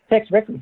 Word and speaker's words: Tex Rickard: How do you pronounce that? Tex Rickard, yeah.